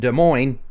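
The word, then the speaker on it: Des Moines: Like how cuz De Moine is Iowa, right? So what Iowa people are like more they know the S is silent.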